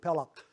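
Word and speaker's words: peləq: So it's P E L schwa Q, Pelak.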